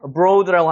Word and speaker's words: abroad: abroad라고 하는데 여기 강세가 여기 적용이 되죠. 그래서 이게 O 발음이 나는 거예요. O. 여기 같은 경우도 여기는 강세가 없으니까 어를 세게 있는 게 아니라 abroad가 되는 거죠.